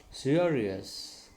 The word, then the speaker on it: serious: Serious, serious. Okay. The R which is in the middle, it should be pronounced because after R there is a vowel sound.